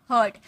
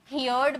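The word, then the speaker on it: heard: इसका second form हर्ड। अब बहुत सारे स्टूडेंट इसे हियर्ड बोलते हैं। हियर्ड नो हियर्ड नहीं बोलना है आपको।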